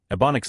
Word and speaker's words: Ebonics: I was like, "No, Ebonics like ebony black, you know."